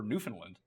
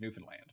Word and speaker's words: Newfoundland: And Tim's in the worst time zone of all, except for Newfoundland, which is not how you say it. It's Newfoundland, but that's how people here say it.